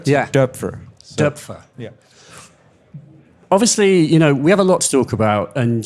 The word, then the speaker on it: Doepfer: Well, The correct pronunciation is Doepfer. Doepfer. It's. I think I heard 20 or 30 different versions of it, like Doepfer, Doepfer, Doepfer. But the correct is Doepfer, like the I in bird, Yeah.